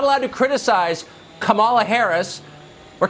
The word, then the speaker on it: Kamala: name is pronounced Kama like the punctuation mark La comma okay seriously